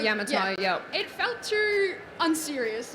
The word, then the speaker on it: Yamatai: especially like for, I don't know how to pronounce it. Is it Yamatai? Like, Yamatai, yep.